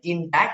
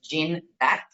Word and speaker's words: Gindac: Some people confuse it and say Gindac, but it's Gindac.